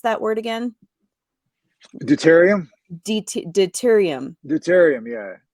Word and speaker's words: deuterium: way you can you know how do you pronounce that word again deuterium deuterium deuterium yeah how do you spell that